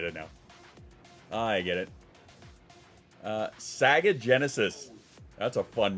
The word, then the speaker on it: Saga: Well, their name is Saga. S-A-G-A. So it's not how I pronounced it, it's how they spelled it.